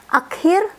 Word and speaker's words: akhir: We say it, ak, here, ak, here. First syllable, second syllable, ak, here, ak, here. Akhir, it means end.